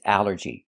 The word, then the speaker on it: allergy: The first word is allergy. The first thing that's important is the ALL. This word breaks the rule. The rule is ALL makes the sound all, like ball and call.